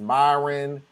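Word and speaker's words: Marlon: out how m-a-r-l-o-n is Myron Myron but dude it ain't special it's it's two syllables bro let's go it ain't never changed since the beginning of the alphabet m-a-r Mar l-o-n lawn come on no your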